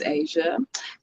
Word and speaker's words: Aja: My name is Asia, and I go by Animated Asia or Animated